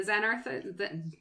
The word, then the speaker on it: Xanathar: But I did want to point out, like, my favorite one in the personal goals that's in the Xanathars?